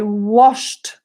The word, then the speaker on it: washed: thinking he's not sure two people said with a D washed washed William agrees with a D I am sorry to say guys that no it's with a T I washed my hands thank you